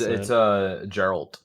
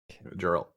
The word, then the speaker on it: Geralt: It's Geralt. Geralt. Think about it saying like a Gerald. Yeah, but with a T. Geralt.